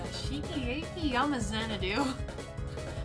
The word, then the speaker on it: Xanadu: mouthful, it's Shiki Aki Yama Xanadu. Like Xanadu, like the Olivia Newton-John song, but not like the Olivia Newton-John song.